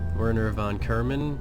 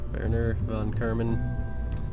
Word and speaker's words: Werner von Kerman: Hello, I am Werner von Kerman, or Werner von Kerman. You gotta pronounce it all German-like and stuff like that.